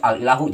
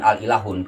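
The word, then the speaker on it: الإله: Harus al-ilahu, jangan al-ilahun, karena halus mukhayyar baina ta'rif wa tanwin.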